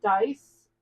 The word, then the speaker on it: Deis: Like, my maiden name is Dice. It's German and it's spelled Deis.